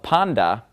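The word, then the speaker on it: πάντα: on the end of Panda and of course I'm pronouncing it panda because the top whenever it comes after me it makes that D sound okay Tov usually makes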